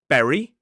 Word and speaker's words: berry: But we have berry and very again the difference is for the B sound we must close our lips like this bb and the vv sound the teeth are involved like we explained before.